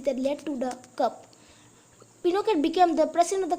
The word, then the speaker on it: Pinochet: Yes, we know it was a military coup, and it was led by General Augusto Pinochet, pronounced Pinochet, an army general led the coup.